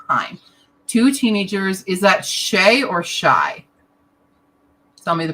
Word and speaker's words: Shy: Sorry, I have to read Pronounced shy.